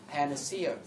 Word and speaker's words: panacea: đề, thì gọi là panacea. Và nhớ cách đọc từ này. Cố gắng ngay lần đầu tiên ta đọc là đúng rồi, sau là sẽ đúng. Nghe, panacea. Nghe.